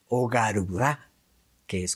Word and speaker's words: Garuda: symbols We have also heard of the ship Garuda or Garudá, which is how it is pronounced, what is a superior Vimana not compatible